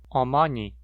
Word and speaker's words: 어머니: Palavras com 3 ou mais sílabas pronunciam a segunda sílaba da palavra com maior altura, maior frequência, ou seja, num tom mais alto que as demais sílabas. 어머니, 문지르다.